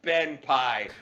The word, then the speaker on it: Benpai: He's like I better try to mess with a guy named BENPAI. Which Yes. rhymes with Sweetie Pie.